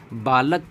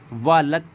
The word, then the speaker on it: बालक: पर आता है कि बालक को वालक उच्चारण करना किस वर्ण की अशुद्धि है देखिए बालक लिखा है